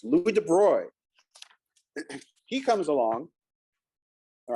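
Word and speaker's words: Louis de Broglie: Louie de Bruy is how you pronounce that name. It's not Degley, it's Louis De Bruy.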